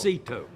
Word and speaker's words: Cito: It's not Frito, sir. It's Cito.